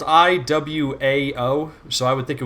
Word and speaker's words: Iwao: I think Mikami-san, and I always pronounce his name incorrectly, and you point out that I pronounce it like a state in America. RT. Iowa. I think it's Kenichi Iwao.